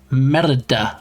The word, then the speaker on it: Merida: And anybody that's seen Brave will know the main character is called Merida. Merida. I think you have to roll your R when you say it.